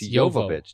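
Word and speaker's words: Jovovich: because I was like how do you actually pronounce her name it's it's yovich did you know that I I think I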